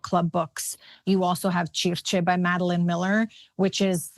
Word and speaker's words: Circe: So I say it Circe, but Circe. But you know what, Demi, I have to say, like the way the ancient people must have pronounced it was probably the way Flavia pronounces it. Yeah, not Circe. Yeah, we for sure butchered that. No, I like Circe though.